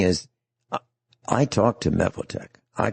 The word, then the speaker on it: Mevotech: It might look like it's pronounced Mevotech.